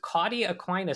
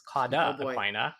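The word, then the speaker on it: cauda equina: have a case of Caudy-Aquina syndrome," which if you're going to try to flex every time you say a diagnosis, you should say it correctly. It's Cauda-Aquina.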